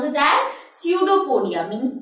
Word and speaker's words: pseudopodia: we pronounce it as pseudopodia, means P is silent.